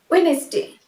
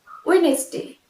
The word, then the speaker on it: Wednesday: Next, Wednesday, Wednesday, here also D will be silent, Wednesday নয়, it will be Wednesday.